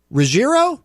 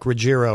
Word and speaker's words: Ruggiero: said I think I said it with a hard G like Rogerro or something. Well that's not a hard sounds better than Rogerio.